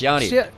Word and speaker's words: Yanni: Yanni, It's Yanni. Yanni, okay, I'll get... So, I'm not even pronouncing it right.